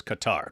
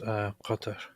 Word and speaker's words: Qatar: And so the most common English version is Qatar. That people just say Qatar. Yeah, well, which makes it easy. The original Arabic is just Qatar.